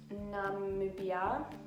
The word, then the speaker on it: Namibia: I use the shade Namibia. That's how you pronounce it.